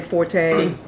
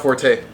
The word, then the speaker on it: forte: We don't say forte. Right? Got that kick. Yeah, it's fort. It's not forte. The proper pronunciation is fort. But everyone knows that it's forte. So if you say fort, they're gonna look at you like you're crazy. Look at you weird. But it's really fort.